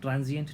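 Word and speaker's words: transient: ट्रांजिएंट ट्रांजिएंट ट्रांजिएंट ट्रांजिएंट का मतलब है भाई अस्थाई।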